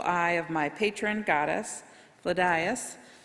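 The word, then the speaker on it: Flidais: of my Patron goddess fadas or pronounced fleash sorry in olster dialect the protector of the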